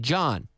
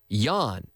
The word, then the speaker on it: yawn: why a WN y on the Y like yellow yes not not John I'm not saying John no Yan Yan eat Y a